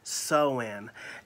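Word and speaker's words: Samhain: harvest rituals particularly sewen it's spelled s-a-m-h-a-i-n as a nancy but it is really pronounced as sew-in and the ancient celts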